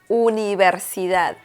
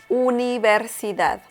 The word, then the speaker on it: universidad: University in Spanish is universidad, universidad. Okay, so remember that the V sound in Spanish, it's pretty much non-existent. So you pronounce the letter V as B in Spanish.